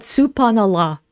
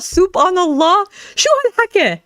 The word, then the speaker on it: Subhan Allah: You guys You guys, that was probably the worst pronunciation I've ever heard. Soup. Thinking about food. Soup on. That's literally what she said. Soup on Allah. What is this that you're saying? Subhan Allah.